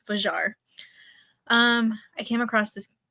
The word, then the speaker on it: Fajr: spell her name wrong it's not fair it's vajar um I came across